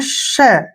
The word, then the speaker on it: pshaw: यहाँ पर भी हमने एस से पहले पी है तो पी का प्रोनाउंसिएशन नहीं करना है। और एस एच का जो उच्चारण है वो क्या होगा? एस एच को हम पढ़ते हैं श। क्या पढ़ते हैं? श। और AW से यहाँ पर आ की मात्रा पढ़ेंगे, ऐसे शॉ, इसको हम शॉ पढ़ते हैं, शॉ।